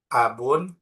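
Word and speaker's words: أبو: Ketika ini mau dijadikan di i'rab rofa, maka abun ini cara bacanya adalah abu. Bukan menjadi, bukan menggunakan abun. Bukan dibaca abun, tapi dibaca abu.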